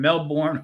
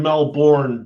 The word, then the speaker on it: Melbourne: I know there's an R in Melbourne, dude. But we don't talk like that down here.